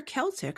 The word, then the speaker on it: Celtic: Wait, is it Celtic or Celtic? I've always used a hard C. I don't know. You said Celtic, like the basketball team.